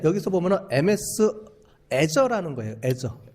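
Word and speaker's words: Azure: 보면은 MS 저라는 거예요 애저 발음을 저라고 부릅니다 ms's 만든 애저 아마존에서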